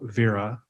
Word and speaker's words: Vera: you about today is something we call Vera that's how we pronounce it v-e-r-a uh this is so